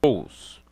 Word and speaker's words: Kroos: Quando falei do nome do jogador alemão Kroos, na realidade é Kroos, né?